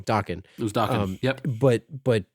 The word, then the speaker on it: Dokken: I always pronounce that wrong. Dokken.